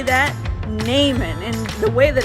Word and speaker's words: Naaman: story today, we're talking about a man named Naaman. Can you say that? Naaman. And the way that it's spelled, it's kind of funny.